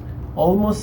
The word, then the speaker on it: almost: Almost significa casi. Casi. ¿Cómo se pronuncia? Como si fuera O al principio.